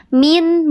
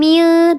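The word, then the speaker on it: مِن: Jadi ketika ada nun sukun atau tanwin bertemu dengan huruf yang 6 ini, cara bacanya diizharkan, dibaca jelas. Min, bukan mil, tapi min.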